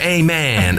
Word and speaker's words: Eamonn: said and i went well no it's like a prayer amen amen i said what are